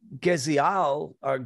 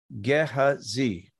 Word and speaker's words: Gehazi: him what to do now geziel I'm sorry guess a Ze gehazi I said it right uh he was